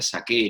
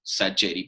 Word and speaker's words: Sacheri: duda porque en realidad mi apellido se pronuncia shaker y siendo una presión italiano o lo lógico sería pronunciar los aquí pero acá en argentina como tenemos tantos apoyos italianos se ha decidido hace décadas que todo se pronuncia castellanizado dos veces sacheri para todo el mundo es h y así